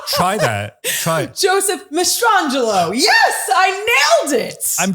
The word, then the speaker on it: Mastrangelo: Joseph Mastrangelo. Did I say it right? Yes. Okay, he's going to say yes no matter what. I want to make sure I got his name correct. Mastrangelo.